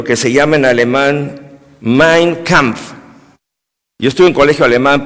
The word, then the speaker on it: Mein Kampf: Usted sabe, hermano, Hitler, él escribió un libro que se llama en alemán Mein Kampf. Yo estuve en colegio alemán, por eso el alemán se pronuncia tal como se lee casi Mein Kampf, que es mi lucha.